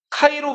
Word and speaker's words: 카이로: 그리스에서는 X를 X라고 안 읽고 카이라고 읽어요. 뭐라고 읽는다고요? P를 로라고 읽어요. 자,요 문자 요거 로마 교황청에도 요게 자랑하는 문자거든요. 자,요 x랑 p를 겹쳐 놓은요 문자를 무슨 문자라고 한다? 카이. 카이로 문자라. 카이로. 그건 이집트 수도고.